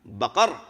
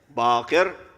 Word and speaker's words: Baqir: My name is not Baqar. Instead, my name is Baqir.